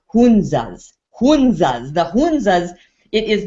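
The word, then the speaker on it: Hunza: so glad you asked that Christopher because the hanzas have been studied and they're in Northern India and the hanzas have actually it's pronounced hunas hunas the hunas it is not uncommon for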